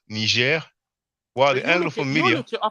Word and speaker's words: Niger: The pronunciation is the French one of Niger, while the Anglophone media.